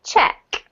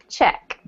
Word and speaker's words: Czech: oopsie check check okay yeah so that's also the nationality if you're from the czech republic then your check um same pronunciation as that which is the verb or that in the uk which is the thing you write out to give somebody money all right so that